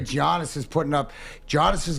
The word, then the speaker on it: Giannis: Giannis is putting up. Giannis is going to be Giannis. We figured it out game Giannis. one. What? You keep saying Giannis. Gian- Yeah. Giannis. It's Giannis.